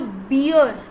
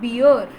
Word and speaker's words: bear: the animal that we call bear, it is not beer, please. Okay, it is not beer at all, it's bear, BEAR, bear. Hindi में जिसे हम भालू बोलते हैं, that animal is in English pronounced as bear, not beer.